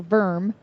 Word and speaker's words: wyrm: lord of them yes a worm pronounced worm or verm is a type of